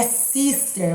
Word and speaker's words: Cister: O monge de cister é sister, monge de sister, certo?